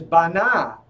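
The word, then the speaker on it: בנה: And the root is bana.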